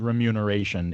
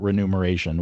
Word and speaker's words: remuneration: Yeah, but I would I I might very well at least stumble on remuneration if not outright mispronounce it renumeration when I if I had just been reading that out loud and it had been in the middle of it.